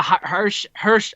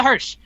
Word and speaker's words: Hirsch: she took on legit laylah hersh i'm bad at pronunciation hirsch right yep that is correct well leila hirsch and they had a